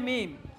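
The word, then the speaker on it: ميم: এরপরে মিম, মিম। মিম বলার সময়ও ঠোঁটকে প্রথমে একটু চাপ দিয়ে উচ্চারণ করতে হবে, পরেও কি দিতে হবে? একটু ঠোঁট চাপ দিতে হবে।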